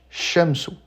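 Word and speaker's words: الشمس: Et donc pour bien comprendre, si on écrit ça de manière phonétique, on va dire shamsou. Et ici, j'ai bien mis en évidence le fait que la shadda correspond en arabe à un dédoublement de la lettre. Donc ici, on a bien deux shines h shamsou ce qui permet d'insister en lisant la shadedda.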